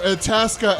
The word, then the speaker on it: Itasca: We apologize for Itasca. It rhymes with Alaska.